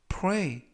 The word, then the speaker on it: pray: 이번 표현은 pray, pray, pray 라고 발음하시면 되겠고요. 이때 조심하실 것은 play가 아니라 pray 라고 발음하시면 되겠고요.